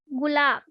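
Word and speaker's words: गुलाब: The meaning of rose in Hindi is gulab, and we will pronounce like gulab.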